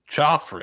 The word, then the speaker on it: Khafre: I'm going to go with, is it Khafre Brown? How do you pronounce the first name? Choffrey.